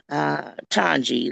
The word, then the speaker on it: Twangie: Hi, um, my name is pronounced Twangie, last name, and I am just a community servant in general.